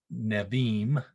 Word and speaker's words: Nevi'im: You'll notice that the B, or the bait in Hebrew, is pronounced as a V sound, not a B sound. So Nevi'im.